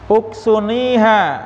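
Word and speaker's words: أكسنيها: Uksuniha ya, bacanya itu ya Pak. Uksuni karena apa? Huruf ketiganya di doma.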